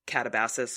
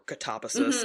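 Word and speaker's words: Katabasis: Kuang's Catabasis or Catabasis, depending on what country you're in and how you want to pronounce the word.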